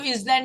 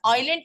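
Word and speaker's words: island: अलावा groups of आइलैंड इसको जलैंड नहीं पढ़ते हैं एस साइलेंट होता है आइलैंड किसे कहते हैं आइलैंड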